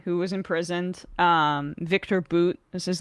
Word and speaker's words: Bout: was imprisoned um Victor boot is his name it's spelled like bow but it's pronounced like boot um arms dealer not